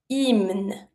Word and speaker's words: hymne: The H is mute, and the Y has the E sound. Hymne.